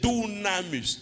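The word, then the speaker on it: dunamis: mot puissance signifieis comme ça se prononce d u c'est pas des U le U en grec c'est ou donc c'est dunamus dunam c'est quoi c'est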